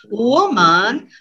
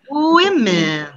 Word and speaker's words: women: from my students is they confuse woman and women listen the difference you hear the difference woman with women so they are nice the grammar is telling it's plural we need to pronounce women but unfortunately the many students pronounce woman uh hungry and angry